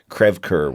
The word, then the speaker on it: Creve Coeur: of St Louis called Creve Coeur Creve Coeur which is a mispronunciation it's so St Louis to mispronunciate a French term krevker which means broken heart